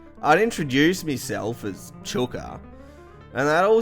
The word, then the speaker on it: Chooka: I'd introduce myself as Chooka, and they'd all say Chooka or like Chooka or something like, I don't